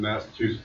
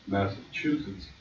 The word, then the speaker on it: Massachusetts: In that room was a judge who couldn't even pronounce the state I was from, which is Massachusetts, not Massachusetts.